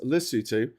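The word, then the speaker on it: Lesotho: Uh, lutu is pronounced lutu. The people are called basutu and the language is called cisutu.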